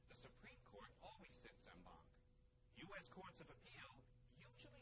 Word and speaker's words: en banc: Our extra word today is no, not Latin, but French, en banc. Or you'll also hear it said in bank.